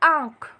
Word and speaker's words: आँख: तो आ के बाद जो हम आधे न का उच्चारण कर रहे हैं वो करते वक्त ध्वनि मुंह के साथ साथ नाक से भी निकल रही है, इसलिए हम आ पर चंद्र बिंदु लगाएंगे।